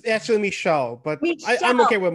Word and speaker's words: Michel: right just it's actually michelle but i'm okay with michael no michelle michelle yeah i think yeah it's 20 20.